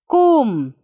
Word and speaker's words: comb: Here, see. Kum. We are not pronouncing B. It's kum.